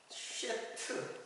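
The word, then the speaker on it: שֵׁת: 근데 이제 셋이라는 이름인데 셋은 쉐트 쉐트 이렇게 돼요. 그 히브리 발음으로 쉐트.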